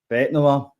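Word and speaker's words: Bête Noire: Who's Betty Noir? What is it? Bet Noir. Betty Noir sure? must be a character or somewhere. No. I thought that was the French pronunciation.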